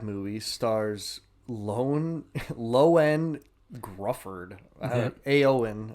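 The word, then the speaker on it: Ioan: Aoan, I guess, is how you pronounce it, which how? I don't know. It's almost like an It's like Ian, but extended.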